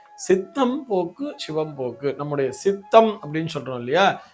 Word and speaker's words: சித்தம் போக்கு, சிவம் போக்கு: நெறைய பேர் இத வந்து எப்படி சொல்லுவாங்கன்னா, சித்தன் போக்கு, சிவன் போக்குங்கிற மாரி சொல்லுவா. அது சித்தன் போக்கு, சிவன் போக்கு அல்ல. சித்தம் போக்கு, சிவம் போக்கு.